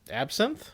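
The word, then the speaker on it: absinthe: How do you pronounce that? Absin.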